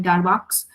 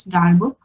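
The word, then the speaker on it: Darboux: some people call it darvox but the real pronunciation because it was a French mathematician the pronunciation looks like this star book uh though it does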